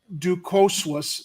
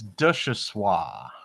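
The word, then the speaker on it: Duchossois: Ducoswas, is the top patron donor for Paul Vallis, having contributed 700. How do you pronounce it? It's Duchessois.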